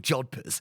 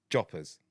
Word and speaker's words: jodhpurs: I think they're called jodhpurs. And Jodhpurs. Jodhpurs. Joppers. Jodhpurs. Yeah, but you don't need to say jodhpurs. That's what they're called, jodhpurs. Joppers. No, they're not. They're jodhpurs.